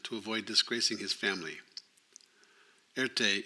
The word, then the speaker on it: Erté: avoid disgracing his family Earth Day is the French phonetic pronunciation of the initials R and T in 1915 Erte secured